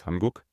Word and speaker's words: 한국: Here you can see the Korean word for Korea, which is Hanguk, and you can clearly see the separation between the two syllables. The first syllable is Han, and the second syllable is Guk, because you always have